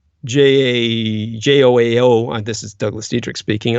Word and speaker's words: João: I believe his name is pronounced João, Joao.